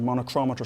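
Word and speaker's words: monochromator: have a light source we have something called a monoch chromator monochrometer sometimes is how it's pronounced and what that does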